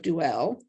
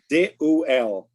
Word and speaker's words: Deuel: the chieftain of the Gadites, Eliasaph, son of Duel, whatever. His offering, I should look it up in the Hebrew and I'll say it properly. What's the name? Deuel.